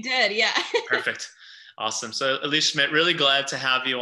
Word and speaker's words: Elise Schmitt: through some of our conversation here today um elise schmidt thank you so much for and i pronounced your name correctly right you did yeah perfect awesome so elise schmidt really glad to have you on another visual